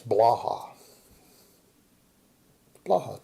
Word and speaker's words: Blaha: can't speak proper English it's Blaha Blaha pretty easy Cy come on it's pretty easy two syllables it shouldn't be that difficult for you so where